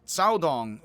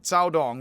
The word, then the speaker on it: Caodong: And then this is the Caodong school, as best as I can pronounce it, and I'm not good at it, but the C here is pronounced a TS, and that is weird.